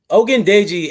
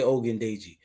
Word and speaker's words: Ogundeji: Ogundeji. Everybody can say Ogundeji. Come on, say with me at home. Ogundeji. Yeah, but get that G, that gun, like Ogundeji.